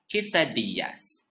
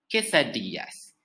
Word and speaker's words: quesadillas: next dish is also from mexico it is pronounced as chisadiyas quesadillas it is a dish consisting of a tortilla